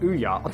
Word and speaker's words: Ouya: The Ouya gaming console, pronounced Ouya.